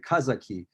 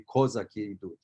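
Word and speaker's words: козаки: traditionally would pronounce it kazaki that's the way you would pronounce it in russian if you were singing a don cossack song but in ukrainian it would be kozaki so or is one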